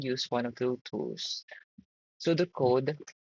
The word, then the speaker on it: pseudo code: sudo code pronounced sudo code or flowcharts.